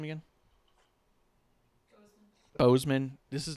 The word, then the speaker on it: Boseman: Bozeman.